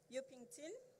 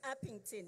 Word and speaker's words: Upington: the community of um yukington I'm not sure whether I'm pronouncing the area correctly it's upington yes in terms of